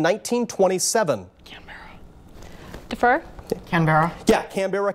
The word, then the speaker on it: Canberra: australia's capital in 1927 fur can Barra yeah Canberra Canberra is how they pronounce it but that is absolutely right second